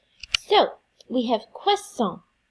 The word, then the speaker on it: croissant: Bonjour, this week we're going to work on the letter combination OI in French with our pronunciation, and that just says wa, like WA in English, with a short A sound. So, we have croissant, croissant, oiseau, oiseau, moi, moi, toi, toi, poisson, poisson.